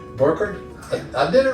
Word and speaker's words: Burkert: How do you pronounce it? Burkert. Burkert?